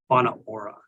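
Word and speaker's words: Whānau Ora: That word on the top there is pronounced Whana Ora. It looks like Wanatahi, but it's Whana Ora.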